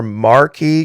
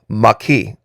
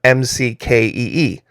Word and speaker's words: Maquis: to carry that net no it's Florida Maki M A with the accent on the q-u-i-s Maki now it's also pronounced by some folks like the common last name m-c-k-e-e McKee so if that's easier for you to remember once in a while